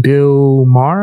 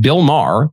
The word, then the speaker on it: Bill Maher: He's going to be speaking on Roseanne, having a conversation with Bill Maher, I think is how you pronounce the dude's name.